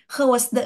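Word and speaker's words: gewijsde: Van KH wes the tulisannya gwesde Tapi bacanya ke pakai Ho di sini KH wes the gitu ya sayang ya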